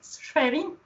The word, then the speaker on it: Schwerin: Schwerin. Schwerin. Yeah, pronounce.